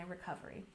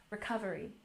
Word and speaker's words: recovery: to me during my recovery. And again, for pronunciation, let's emphasize the second syllable, recovery. Recovery.